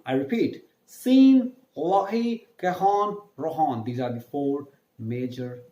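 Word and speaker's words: Rhône: Rohon is R-H-O-N-E. Now, why am I using a lot of the ha sound here? Because as you guys know, that in French, the alphabet R is pronounced as half of the ha and half of the ha. Ha, like you have a bad throat.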